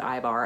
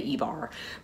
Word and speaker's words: Ivar: person or i bar some people will pronounce it i bar and i'm really torn on what i should do because on the show they pronounce it ivar but i think most scandinavians say ebar but it told me